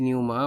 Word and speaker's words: Pneuma: Oklahoma by tool and the song is called Numa so let us start by looking at the song title meaning Numa so it is pronounced as naughty Numa but Numa Numa is an ancient Greek word